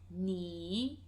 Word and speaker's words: 你: The second one, which is you, singular format, is 你. 你. So I, 我, you, 你.